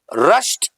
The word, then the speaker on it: rushed: Rush, wrong pronunciation, right pronunciation rushed.